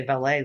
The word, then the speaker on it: valet: Like I um cuz you guys say valet like the French, which is it's one of the few times Americans get the pronunciation of something right over the English cuz in England Yeah. like all of Downtown Abbey, it's all valid, valid, valid.